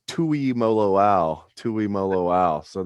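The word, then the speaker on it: Tuimoloau: yeah thanks to bill crulick i know it's tui mo lo ao tui mo lo ao so there we go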